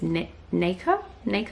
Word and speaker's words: nacre: Okay, I just looked it up and the way you say it is nacre. So that's how I'll say it from now on. Anyway, it doesn't look like it's spelled like that, but that's how you pronounce it.